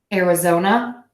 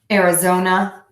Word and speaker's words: Arizona: zone and then the short up era zona Arizona Arizona Arizona okay and then so you can see